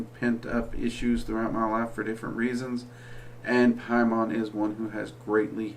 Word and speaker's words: Paimon: so you don't have to just trust my pronunciation of it, is Linan Tasa Jadan Paimon.